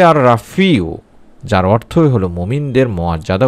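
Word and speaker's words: الرافع: উচ্চারণটি হবে আর রাফিউ যার অর্থই হলো মুমিনদের মুয়াজ্জাদা উঁচুকারী।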